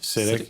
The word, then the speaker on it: Sitek: Yeah, Sitek.